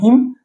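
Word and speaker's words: hymn: एच वाई एम हिम ये एन यहां पे साइलेंट है ही एम आई एम वाई टी H myth तो ये इस प्रकार वाई इसमें साइलेंट है।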